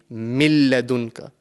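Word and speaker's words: مِن لَدُنكَ: So, the the correct way to pronounce this word over here will be milladunka. We are completely joining the mim into the lam mushaddad.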